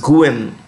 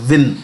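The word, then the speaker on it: Nguyễn: And while we may pronounce this as Nguyen, it's local Bhasha, it's pronounced as Win, W-I-N, Win Phu Trong.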